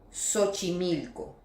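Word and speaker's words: Xochimilco: Dans ce cas il se prononce comme un « s », par exemple : silophone, sénophobie, sérographie, siphoïde, le nom Siomara, Sochimilco.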